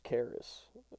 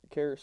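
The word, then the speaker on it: Charis: right who is it Grace Caris but Caris is spelled CH h a r i s okay what's the first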